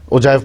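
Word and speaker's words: ogive: Frequency polygon, और इसको ओजाइव भी कहते हैं। ठीक है, उस स्पेलिंग याद करने के लिए ओजिव कर लें आप, ओजाइव पढ़ा जाता है।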